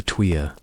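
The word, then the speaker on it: tuyere: The air travels through a long tapered iron pipe called the tweer, pronounced twe.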